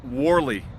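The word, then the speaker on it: Whalley: Wally is pronounced Warley.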